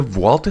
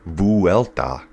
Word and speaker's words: Vuelta: The Valta stage today is, and I'm supposed to say it, Vualta. Vualta, I think. So, apparently, if you're saying it right, it's three, but I'm not saying it right. I'm saying it Collins way.